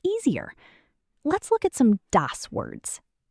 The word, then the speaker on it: das: It's dos. Say it. Das sounds like das.